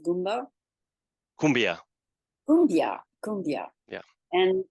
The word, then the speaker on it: Koombea: the inspiration for our Kumbia brand so we basically spell it differently to be able to uh pronounce it in the same way in English that is in Spanish okay okay and but